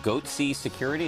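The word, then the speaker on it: Goatse Security: Goatsy Security, who are these guys? And they're Googling Goatsy, and they're getting the Goatsy picture. They're called Goatsy Security. Is that am I pronouncing that correctly?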